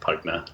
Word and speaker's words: Pugna: And it is pronounced Pugna, P-V-G-N-A. The V is just Latin. Anything in Latin is spelled with the U's or V's, and it means battle in Latin.